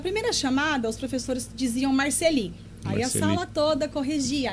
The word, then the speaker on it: Marcely: Ele disse meu nome, Marceli. Aí a sala toda o corrigiu. E ele deu uma aula de francês, de por que o meu nome se pronunciava daquela forma, que nunca mais ninguém o questionou, muito menos eu.